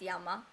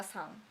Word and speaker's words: 山: Mountain is yama. But Mount blah blah is 富士山 or blah blah san. And san, this is comes from China, called onyomi, the Chinese sound.